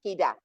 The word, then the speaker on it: cadre: That's better pronunciation, cadre.